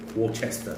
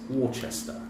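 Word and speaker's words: Worcestershire: Warchester sauce. American people can't say that. Huh? Americans say funny, but it's Warchester. Warchester sauce. Worchester sauce, depending.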